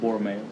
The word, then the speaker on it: Borromeo: Borromeo.